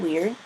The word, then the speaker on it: via: though it sound does isn't that kind of weird so this is the word for Road WEA